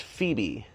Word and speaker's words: Phoebe: My name is pronounced Phoebe. Phoebe. Like the girl from Friends.